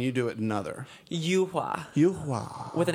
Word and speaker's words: Yuhua: Because I noticed RuPaul pronounces it one way and you do it another. Yuhua. Yuhua.